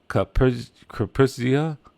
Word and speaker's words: Zaporizhzhia: He highlighted that the cities Kherson, I think it's pronounced Zaporizhzhia, and Kharkiv and Sumy faced a near deadly bombardment.